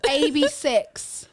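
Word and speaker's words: AB6IX: I think it I think this one is ab6 that's correct that's correct ABS yeah that is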